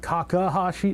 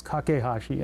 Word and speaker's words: Kakehashi: This is made when Ikotaro kakahashi kakehashi kakehashi is is that kakahashi? No, it's kakehashi.